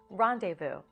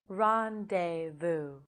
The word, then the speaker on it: rendezvous: to say the word rendezvous rendezvous rendezvous rendezvous ron day boo rendezvous rendezvous thank you